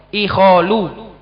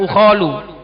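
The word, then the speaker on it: إِخَالُ: Nah, ini yang keluar dari sarf ikholu bukan ukholu atau bukan akholu.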